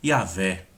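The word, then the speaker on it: Yahweh: Eles vão nomeá-lo de Yahvé. Essa é a pronúncia que nós poderíamos mais nos aproximar do nome de Deus.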